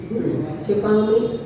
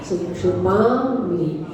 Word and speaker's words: क्षिपामि: क्षिपामि छोटा छोटी ई है, क्षिपामि ऐसा यहाँ पर उच्चारण करना होगा।